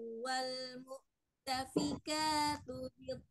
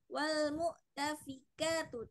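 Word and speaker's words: وَالْمُؤْتَفِكَاتُ: Di sini fa-nya dia tidak ada penambahan ya. Jadi tidak panjang. Tadi ibu membacanya wal mu'tafika. Jadi seakan-akan fa-nya itu menjadi 2 harokat ya. Jadi di sini tidak ada ya.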